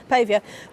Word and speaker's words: Pavia: Is it Pavia? Pavier? How do you say your name, sir? Pavia.